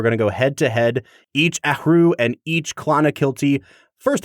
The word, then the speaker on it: Athrú: HR so it's like ahu you have this nice like wind escaping your mouth as you say it Brad I am rambling